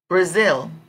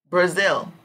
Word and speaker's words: Brazil: finger finger strong Silva would come over fing Brazil Brazil the strong syllable I think we'll come over Zil because